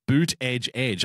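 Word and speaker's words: Buttigieg: night but a gig his campaign t-shirts bear the phonetic spelling boot edge edge I am not pronouncing his name Buddha de jedge Buddha judge not happening it's about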